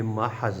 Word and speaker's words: محض: یہ جو کلمہ ہے اس کا تلفظ بھی سیکھ لے، یہ محض ہے۔ محض محاورات، کلمات کا